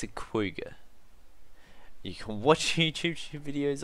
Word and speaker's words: quagga: It's a quagga. You can watch YouTube videos on it and everything. It's pronounced quagga. Don't ask me, guys. I didn't invent it. That's just how it's pronounced.